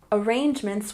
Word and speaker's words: arrangements: And here in the second sentence, arrangements, we stress the second syllable.